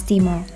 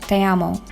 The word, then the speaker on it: te amo: pronounced Gmail address as demo but then Nina made a correction she said it was Spanish so it's pronounced te amo te amo means I